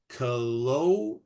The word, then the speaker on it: Kelowna: Kelowna, right? Is that how you say it? Kelowna, British Columbia. Yeah. That one's happening. Kelowna, that's right.